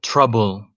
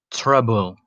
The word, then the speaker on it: trouble: Uh, you pronounce that word trouble. You have two syllables. The first one is tr, maybe like a tr, tr, trouble. The second syllable is bull.